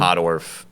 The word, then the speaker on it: Pottorff: You you actually nail the pronunciation of podorf better than a lot of people do actually.